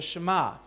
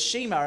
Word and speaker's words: Shema: it mean well this prayer is called the Shema I used to read it as Shema it's spelt sh t ma and I used to read it as Shima until I started to learn that sometimes our